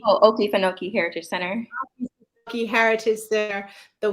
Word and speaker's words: Okefenokee: Okefenokee. Oh, Okefenokee Heritage Center.